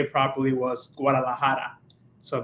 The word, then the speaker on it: Guadalajara: hear then also like to say properly was Guadalajara so Guadalajara was because I had like uh the uh